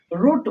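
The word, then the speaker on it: wrote: যেমন আমি লিখতে পারি রোড, কি লিখছি, রোড, ডাব্লু আর ও টি, রোড। দেখো এই আরটা কিন্তু উচ্চারিত হচ্ছে না, রোড উচ্চারিত হচ্ছে।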